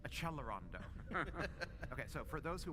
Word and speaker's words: accelerando: I can't tell a how many people love to write and say you're mispronouncing accelerando. You have to pronounce it in the right Italian way which is achelondo.